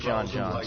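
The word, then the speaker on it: J'onn J'onzz: Like John Johns? My point of so it is pronounced John Johns, because in I know his human name is John Jones.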